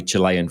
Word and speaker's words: Chile: for sending through the link of the Rowdy Chilean footballers for reference that was very helpful uh